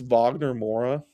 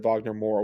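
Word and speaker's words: Wagner Moura: a while about and I think it's Vagner Mora I think you pronounce it Vagner I try and pronounce people's names right if I can Um I I think so.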